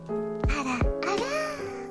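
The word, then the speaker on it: あらあら: How do you say ara ara? It's supposed to be like ara ara.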